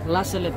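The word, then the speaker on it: La Salette: Anong pronunciation ng Lasalet? Lasalet po.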